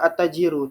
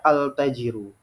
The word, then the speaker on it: attajiru: baca alif lam Kamariah contoh yang salah misalnya ya di situ ada kata attajiru tapi kita baca altajiru benar atau salah salah